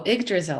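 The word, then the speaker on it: Yggdrasil: quick questions for you um how do you pronounce the name of the tree oh egg drizzle i had to look that up it's a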